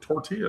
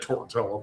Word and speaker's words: tortilla: Well, now would you say tortilla? Because we're not in we're not in Mexico. No, no, no. Of course. Tortilla. Of I have said Tortella before, but I was being funny.